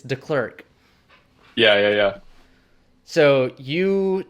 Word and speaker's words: Deklerk: before, but if it's pronounced the way it's spelt, it's Deklerk.